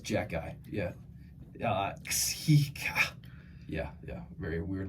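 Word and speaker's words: Xhekaj: until I finally just got in my head that it's Jack Guy. Because when you look at it, it's Ksija, whatever it is, however you say that name. It's Jack Guy.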